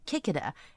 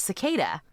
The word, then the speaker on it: cicada: And he goes, "A kicked." And it was cicada.